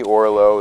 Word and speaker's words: Orlow: It's Orlow. It's O-R-L-O-W, as in either high or low.